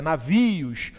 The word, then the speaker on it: navios: Aí você chama a palavra navios. Opa! Não é não, a palavra é navios, ou seja, a sílaba tônica está aqui.